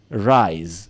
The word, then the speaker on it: rise: ends with this one rise rise it's spelled with an S but it's pronounced as AZ er nasi rice is